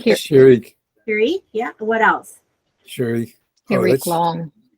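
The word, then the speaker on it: Hiriq: Harik. Here. Shirik. Hirik, yeah.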